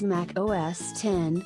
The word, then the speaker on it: Mac OS X: pre-loaded in most pcs to mac OS x pronounced as mac OS 10 mac house is another popular operating system in